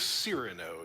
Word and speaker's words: Cyrano: Is it I would Cyrano? I was going with Cyrano. Yeah, it's Cyrano. Cyrano.